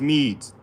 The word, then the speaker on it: Medes: So the Medes is pronounced Medes.